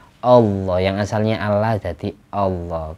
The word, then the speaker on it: Allah: alam kedua jadi Allah lalu dibaca tafhim dibaca tebal Allah yang asalnya Allah jadi